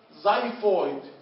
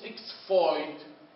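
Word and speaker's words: xiphoid: الاكس اول ما اشوف مصطلح طب بيبدا في الاكس بلفظها زد بلفظ ايش؟ زد. مثال زايفويد ليش ما قلتش اكس فويد؟ قلت زايفويد لانه هيك القاعده بتقول لما تشوف اكس في مصطلح طب بلفظها زد زايفويد تمام؟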